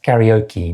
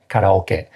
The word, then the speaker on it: karaoke: And that's karaoke, not karaoke for anybody Japanese who's watching.